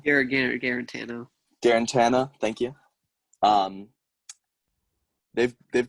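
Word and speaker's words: Guarantano: do you say his last name irrigator guarantee guarantana thank you um they've they've got a bright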